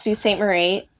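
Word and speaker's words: Sault Ste. Marie: it's not spelled anything like that it is pronounced Su St Marie it's French and I believe it either means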